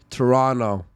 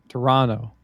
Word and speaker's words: Toronto: Say it like a like a Canadian. Toronto. Toronto. Yep. Not Toronto. There's no T in the last part of Toronto.